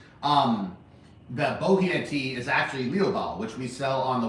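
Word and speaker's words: Liu Bao: Um the boh is actually Leo which we sell on the website. So in in pinion it's L I U B AO Leo and Historically, it's bojia tea.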